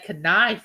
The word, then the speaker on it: knife: And they wouldn't say knife, would they? You don't say the K in knife.